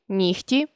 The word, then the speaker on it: нігті: чітко не оглушуємо їх але є 5 слів в українській мові у яких відбувається уподібнення за глухістю це легко вогко кігті нігті дьогтю у цих словах дзвінкий приголосний перед глухим уподібнюється до глухого запам'ятайте ці слова та